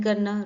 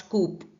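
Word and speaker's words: coup: इस पे ध्यान दीजिए इसमें पी जो है वो साइलेंट है ठीक है तो प्रोनंसिएशन क्या होगा क नॉट कूप okay next word है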